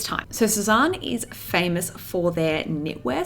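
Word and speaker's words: Sézane: It is time to shop the Sezane website. I think that's how you pronounce it. I don't think it's Sezane. Don't think it's Susan. It's definitely not Susan.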